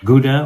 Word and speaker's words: Gouda: You're talking about Ylesburg, uh, Emmenthaler, Gouda or Howa, that's how they pronounce it, uh, in the Netherlands.